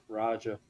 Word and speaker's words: Raja: and like I was like how do you pronounce it his first name? Roger.